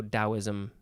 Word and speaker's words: Taoism: instead of a d i think often it is pronounced though taoism either way maybe you